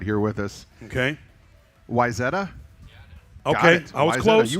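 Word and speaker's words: Wayzata: Um, Visada. So, from what online told me, which we've got a native right here with us. Okay. Weetta.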